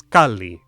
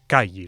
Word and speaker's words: calli: Tips like when you see two consonants in a row, pronounce both. A house was calli, not calle, like if this were Spanish.